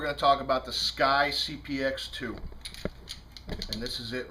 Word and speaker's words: SCCY: Today we're going to talk about the Sky CPX2. And this is it right here. Sky, which is spelled SC CCY, formerly known as SK Y, like the vodka company.